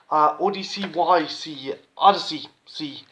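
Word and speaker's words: ODY-C: This one, Odyssey C, as it's pronounced.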